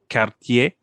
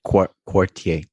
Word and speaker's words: Quartier: brand from Montreal called Cartier. I think I said that wrong. I think it's right. Quartier. Quartier. Yeah, so it's spelled like quarter. Quarter. Yeah, basically with an I instead of just the E.